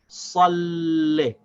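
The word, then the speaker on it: صَلِّ: kasra as le, but we have to connect the lam with the sad and then pronounce the kasra for the lam without stopping the sound of the lam. So we say salli. See, the shad connects with the sad and then we pronounce the kasra on the lam itself.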